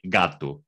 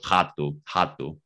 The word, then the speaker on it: gato: Geralmente no galego normativo, na maioria da área geográfica galega, diria-se gato. Okay. Mas nós dizemos jato.